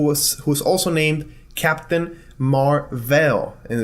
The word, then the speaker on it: Mar-Vell: who's also named Captain Marvel and it's pronounced differently Captain Marvel he was an alien